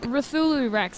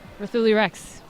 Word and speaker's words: Rulu Rex: the inner West now how do you pronounce it rulu Rex like cthulu but Ruth that's right rulu Rex rulu Rex I get